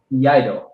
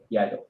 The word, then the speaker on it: Iaido: Okay, so I looked it up. Iaido. Iaido. Yeah. Then you were saying it right?